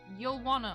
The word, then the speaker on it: Yowanna: dear when you homeworld yo wanna or something it's yowanna amazing oh okay the accent is on the first syllable not the second got it i imagine